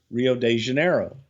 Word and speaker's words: Rio de Janeiro: He says, Rio de Janeiro. And Pat said, what? Rio de Janeiro. Rio Janeiro.